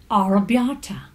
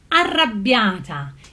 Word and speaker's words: Arrabbiata: out of Italy is a certain Arrabbiata, which is supposed to be pronounced Arrabbiata. It's got 2 R's, it's got 2 B's, also in the spelling, not just in pronunciation.